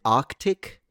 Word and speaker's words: Arctic: Don't forget about the first sea. So, is it Arctic? People skip the Ark.